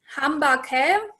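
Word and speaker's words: Hamba kahle: So I actually just looked it up I think you pronounce it Hambake, which is HAMBA space KAHLE.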